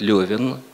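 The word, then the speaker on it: Левин: или а верно это кстати правильно говорить левен и также как льва николаевича родные близкие называли не реф николаича лев николаевич это чисто тульская а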